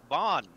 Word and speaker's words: Vaughn: And then I'm gonna I just want to pronounce it Van. I don't know why I can't. My brain just can't wrap around how it's actually pronounced. Vaughn. Yeah, Vaughn. You gotta put an accent over there or something.